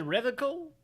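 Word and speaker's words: Revachol: He pronounces Revacol with a hard K, unlike other people. Yeah. Serious question time. This man is no innocent. No one is. You said Revical?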